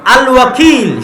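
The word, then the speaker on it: الوكيل: আল ওয়াকিল। শুদ্ধ উচ্চারণ।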